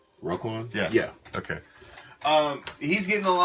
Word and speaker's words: Roquan: I mean, Raquan Smith, I've seen I pronounced that right? Roquan?